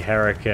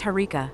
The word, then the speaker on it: Harika: with your creative mispronunciations but it's harika not Erica and I'm doing just fine thank you this is mind-blowing so I should call you Erica is that pronunciation correct Erica oh moist boy you really know how to push my buttons no you shouldn't call me Erica it's harika with an H but hey okay so